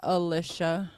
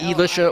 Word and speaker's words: Elicia: million I never did it's pronounced Alisha or it's not Elisha or E you have to really pronounce it well my mom says it's